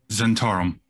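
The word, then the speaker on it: Zhentarim: Goodness, how does one pronounce that, Raven? Zentarum.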